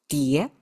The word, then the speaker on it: 喋: The whole thing still pronounced 碟.